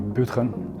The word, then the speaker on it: Budgen: My name is Budgen, or Budgen, as it's correctly pronounced.